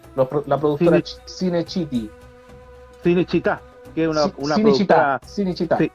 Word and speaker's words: Cinecittà: Disculpen Ah, no tengo muy Cine, buena pronunciación. La productora Cine, Cinecittà.